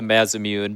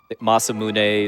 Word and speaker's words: Masamune: sword called the uh I call it the Mazamune because of the Mazamune from Final Fantasy 1, but uh Masamune is I think the technically the more uh accurate pronunciation, but there's a sword